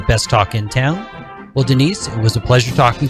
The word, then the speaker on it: Denice: name is spelled d-e-n-i-c-e it's denise with a c gary g-a-r-y pandel pias